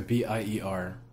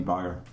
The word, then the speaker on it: Bier: It tastes like a B-I-E-R. B-I-E-R, beer. Mm-hmm. Not B-E-I-R. No, that'd be Bayer.